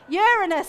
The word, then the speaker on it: Uranus: one everyone loved shouting out with silly words Uranus as I pronounce it is the size of a large